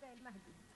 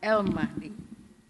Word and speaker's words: El Mahdi: Do I pronounce it correctly? I hope. Yeah. Yes. Abda El Mahdi. Okay. Mrs. Mahdi, hope I do it correctly now. Yes, you got it. El Mahdi holds degree in economics and mathematical economics from